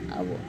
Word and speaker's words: hour: H-O-U-R, our.